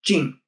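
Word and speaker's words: 金: Because the Chinese the character Kim in Chinese is pronounced ching and they romanized it k i n.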